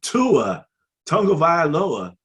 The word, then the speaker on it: Tua Tagovailoa: And Tua Tagovailoa, did I say it right?